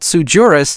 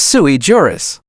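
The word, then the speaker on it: sui juris: It's not Sujurus, it's Suiejurus. Latin 4.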